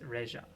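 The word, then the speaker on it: レジャー: Reja. I'm actually, it's leisure in English, but I guess in Japanese it's Reja.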